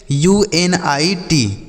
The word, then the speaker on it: unit: तो जैसे हम क्या पढ़ेंगे इसे, UNIT, तो यू से यू हो गया, NI से